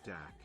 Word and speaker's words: dak: This is where we get the name Dog Star for Sirius from, the word dog stemming from the Aryan word dak, pronounced similar to the German word dock.